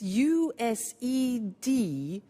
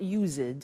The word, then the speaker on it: used to: we use used to look at the spelling s it's it's u s e d and then t o but the pronunciation is not used it's used unusual used